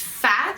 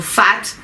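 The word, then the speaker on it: FAAAT: I pronounce it right yes it's phat phat F a a a t dotnet so fat f triple a t so well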